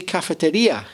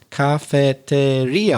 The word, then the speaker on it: cafeteria: another word is cafeteria I know you say cafeteria in Spanish different stress you put the stress in Cafeteria on the fourth syllable but in English we say cafeteria we put it on the third syllable and what's interesting that